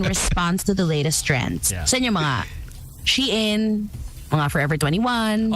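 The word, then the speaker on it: Shein: Sheen Forever 21. Oh, is that how you say it? Sheen. Yeah, I thought it was Shane.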